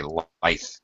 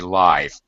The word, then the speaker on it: lithe: I've heard other people say lithe. Oh, she's so lithe. But it's supposed to be lithe. I think it can be pronounced either way, quite honestly.